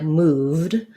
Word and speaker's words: moved: And then, for example, move, the V is voiced. So this sounds like moved. So the ED just says D, moved.